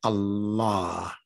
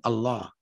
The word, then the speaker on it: Allah: lambs in the word allah see how it automatically makes it different than what the ancient arabs were saying they were saying allah with a double lamb allah allah revealed to